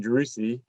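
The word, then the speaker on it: Driussi: then your current teammate uh jerusi i don't pronounce his name sebastian droussy uh was for argentina am i saying that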